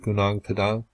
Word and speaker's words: Gunung Padang: you have heard of Gunung Padang, and that is how I'll pronounce it this time around.